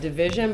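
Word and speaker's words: DVSN: with this one song it's by division but it's spelled DV SN and it's called too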